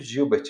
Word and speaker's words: Gilbert: Síndrome de Gilbert, está escrito Gilbert, tá, gente? Mas se pronuncia Gilbert.